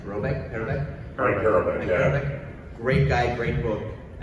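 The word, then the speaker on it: Parobeck: was a short-lived book with and I can't pronounce his last name, Parabek? Frank Parabek, yeah.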